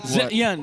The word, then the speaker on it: Zetian: Is that how you properly pronounce it? Zetian, yeah.